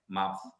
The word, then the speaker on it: mouth: So kalau you notice when I pronounce this word, especially when the TH is at the end, the pronunciation tu bukan mouth berhenti, is mouth. Dia ada lagi bunyi dia tu, the th sound tu panjang, alright, mouth.